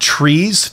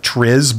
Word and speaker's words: TRIZ: field of study but it's called trees t-r-i-z it's spelled like trizz but it's trees and that's one of